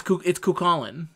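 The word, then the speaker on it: Cú Chulainn: No, it's Kukulin.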